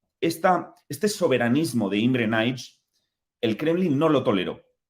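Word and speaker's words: Nagy: de la Hungría comunista imre nig se escribe nagi porque los húngaros pronuncian la griga antes de la G imren ig trató de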